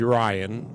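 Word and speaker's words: Ryen: So I'm telling him a story about my daughter's name's Ryan. It's spelled R-Y-E-N.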